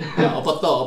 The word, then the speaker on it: opoto: Okay, delicious is O P O T O.